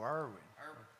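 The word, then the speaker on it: Erwin: Pronounce her last name again. E-R-W-I-N. Oh, Irwin.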